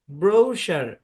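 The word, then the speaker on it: brochure: কোন একটা কোম্পানি কোম্পানির ব্রোশার থাকে ঠিক আছে এই হচ্ছে সেই ব্রোশার এখানে সি এইচ এর সাউন্ড তালব্য স এর মত হবে তো সম্পূর্ণ শব্দের উচ্চারণ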